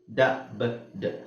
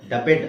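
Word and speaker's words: dubbed: ಆಗಿರುತ್ತೆ ಉಳಿಯೋದು ಏನು ಡಬ್ಡ್ ಡಬಡ್ ಡಬ್ಬೆಡ್ ಅಲ್ಲ ಡಬ್ಡ್ ಹಾಗೆ ಇದು ರಾಬೆಡ್ ಅಲ್ಲ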